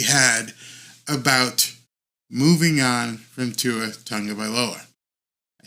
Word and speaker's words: Tagovailoa: And right now, as of today, I believe the uncomfortable conversation has to be had about moving on from Tua Tagovailoa.